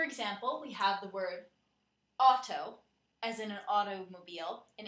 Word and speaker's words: auto: For example, we have the word auto, as in an automobile, in English, but in Spanish it's pronounced, the AU is pronounced more like OW. In Spanish, the word sounds more like auto.